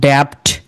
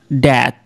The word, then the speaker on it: debt: তারপরে শুনেন, এইটা DEBT আমরা কি বলতাম ড্যাপ্ট, কিন্তু তারা এটাকে বিটাকে বাদ দিয়ে কি বলবে, যে আপনি বাদ দিয়ে দেন এটা তাহলে কি প্রনাউন্স হয় দেখেন, DET, ড্যাথ, মানে ঋণ, কিন্তু আপনাকে লেখার টাইমে আপনার বি সহ লিখতে হবে।